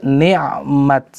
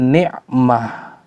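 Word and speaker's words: نعمت: Maka ketika berhenti dalam keadaan darurat atau dalam keadaan dibutuhkannya untuk berhenti, maka cara berhentinya ni'mat, bukan ni'mah.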